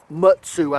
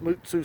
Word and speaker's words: Mutsu: label that's a mutsu mutsu I think is the technical pronunciation but at this point in my life I pronounced it MSU so much that it's probably going to be a mutsu from now on um but I think it's technically a mutsu now you can see